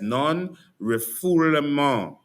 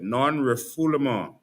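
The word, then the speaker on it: non-refoulement: Non rifful. That's how you pronounce it. Non rifful.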